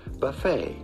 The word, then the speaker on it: buffet: it's all good but in English or American it is generally pronounced buffet buffet buffet the tea at the end is it's all good